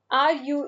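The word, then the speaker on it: rue: Paris is a city r u e slightly difficult to pronounce if you have practiced uh the FR French a r sorry a I'm saying R then will be easy for you it's Yun Ru means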